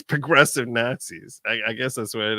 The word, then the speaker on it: Nazis: One of the, I guess it's progressive Nazis. I guess that's what it is. Nazis. You gotta say it like Brad Pitt in Inglourious Bastards. Nazis.